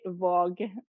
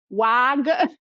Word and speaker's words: Waag: So in Norwegian, I would say Våg. Okay. But it's like not, you cannot guess that from the pronunciation. In Italy, they're always calling me like Wag.